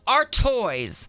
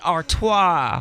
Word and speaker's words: Artois: They changed the pronunciation to make it sound fancy. But if you look at it, the spelling is A-R-T Ois. Ois? So they wanted to spell the toys T-O-I-S. So it's A-R Toys.